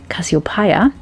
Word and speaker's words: Cassiopeia: birds my favorite was cassiopeia or as her name is pronounced in german cassiopaya if there was a